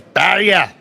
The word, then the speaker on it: barrier: They throw their hits if they can with board weight because they know they can manipulated with the sweeping and get the exact roll that they want. Oh, you said it wrong, Jason. It's barrier.